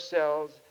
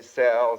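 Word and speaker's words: Selye: I never know how to pronounce it. Some say Cells and some say Sally. I've heard different pronunciations of that name, but we'll say Cells for the sake of convenience.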